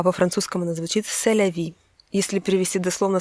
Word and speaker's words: c'est la vie: Только американцы ее немного произносят по-своему, они говорят «c'est la vie», а во французском она звучит «c'est la vie».